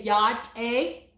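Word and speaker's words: Yá'át'ééh: You say hello is, I always say yat-a, okay?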